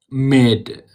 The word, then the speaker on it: made: And the pronunciation is so may. And then you have to come down. May I know if there's a Y and then D may. And you make it faster. Made. Made.